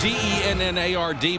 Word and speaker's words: Dennard: That's D-E-N-N-A-R-D, but they pronounce it Dennard.